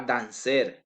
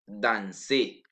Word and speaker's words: danser: La prononciation de l'infinitif ne se prononce pas la R finale. Exemple, danser. Je ne dis pas danser, je dis danser.